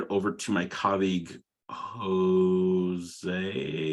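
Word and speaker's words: José: over to my colleague Jose I think it was yes that's how to say my name that's right yes Jose got it hi everyone I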